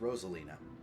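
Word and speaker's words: Rosalyne: it looks like it's spelled ralina but it's pronounced Rosalina interesting oh do you know her too or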